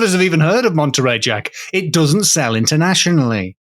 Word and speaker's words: Monterey: I just looked I asked the lady, Monterey.